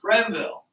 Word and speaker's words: Greenville: Let's take a look at the Treaty of Greenville. In many cases, in some cases, I should point out, this is spelled without the second E and it's pronounced Grenville.